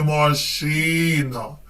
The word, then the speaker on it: машина: білет на моєму білеті машина в цьому слові наголошений другий склад тож я сяду в